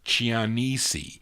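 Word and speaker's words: Cianese: Chia land ciancie c-i-a-n-e-s-e I know how to pronounce it in Italian but I don't know how you pronounce it in American because you would pronounce Chi that as Chia land chiannisi that's how you would say it in Italian but anyway it's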